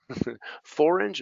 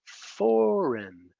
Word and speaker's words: foreign: How about the silent G? Sign. Forange. No. Foreign. Gnome. Right. Champagne. Right. So these have silent G's.